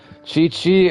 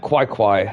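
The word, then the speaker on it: Qiqi: I've been saying your name wrong the entire time. Chi-Chi, I thought it would have been like Kwai-Kwai.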